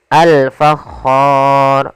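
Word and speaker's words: الفَخَّار: Di sini ada alif lam kembali lagi kita namakan dengan alif lam qamariah yaitu alif lam yang ditulis dan dibaca. Kemudian alfakhar.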